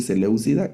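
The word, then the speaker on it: seléucida: fueron más intolerantes, los celéucidas. Y hay un personaje ahí infame, ¿verdad? Antío Epífanes, que fue un un gobernador eh celeuco, se dice celucida, griego de otra facción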